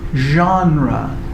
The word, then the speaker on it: genre: So this is a word from French, right? You say, how do you say it in French? Genre, right? Genre, right? So in English, we have like this funny in between.